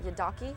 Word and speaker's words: yidaki: um and on the album you play the yidaki am I pronouncing itly Yi yeah and the the thing